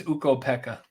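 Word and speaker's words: Ukko-Pekka: know we I go Kath how would you pronounce this eka oh yeah is it uko Pekka it's uko Pekka uko Pekka Lucan that's probably who you're talking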